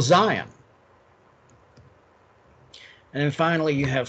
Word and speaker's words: Zion: T apostrophe Z, and the T is silent. So it's still Zion.